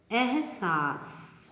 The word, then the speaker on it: एहसास: एहसास इस रॉन्ग, सा के बाद सा ही आता है, इसमें शा नहीं आता। एहसास।